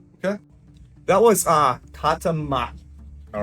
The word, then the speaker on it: maki: Okay, that was uh kata maki. All right. K A T A M A K I. Maki. Think of like, you know, one arm wrap. Like a maki. Like maki.